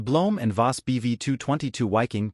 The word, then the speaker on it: Wiking: and vas BV 222 wiking pronounced Ving was a large six-engine